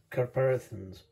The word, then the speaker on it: catharpins: Well, today I'm going to do a video on the Catharpins, that's how it's pronounced.